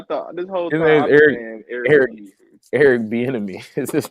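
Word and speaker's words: Bieniemy: Eric bonini oh Eric benmy oh that's how you say his name I thought bonini I'm definitely like who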